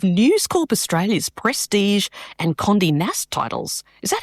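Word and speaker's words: Condé Nast: And you're currently managing editor of News Corp Australia's Prestige and Condi NASA titles.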